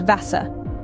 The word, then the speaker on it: Wasser: The V is pronounced more like the English F, and the W is pronounced like the English V. So the German word for water, Wasser, is pronounced Wasser.